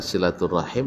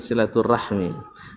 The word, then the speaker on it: silaturahim: perbedaan silaturahim dengan silaturahmi perbedaannya ya silaturahim orang Arab silaturahmi orang Indonesia orang Arab kalau orang Indonesia jadi silaturahmi ya kemudian sama Assalamualaikum orang Arab Assalamualaikum diucapkan silaturahmi pasti maknanya dia maksud adalah walaupun saya bagi mengatakan ndak usah adalah salah mengucapkan silaturahmi itu dalam bahasa Arab ada suatu tanaman yang pahit rasanya jadi bukan silaturahim kalau